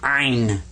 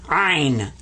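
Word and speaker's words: عين: this guy's name is ein in iron you kind of squeeze the back of your throat when you pronounce this one and i i was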